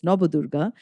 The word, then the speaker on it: Nabadurga: We have the Nabadurga, the 9 forms of goddess Durga, also called Nabadurga, but as a Bengali, I pronounce it as Nabadurga.